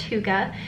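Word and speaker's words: hygge: Yes, it is pronounced huga.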